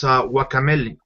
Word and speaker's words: Guacamelee: The other thing I've been playing is Guacamelee. Yeah, that would be the proper pronunciation.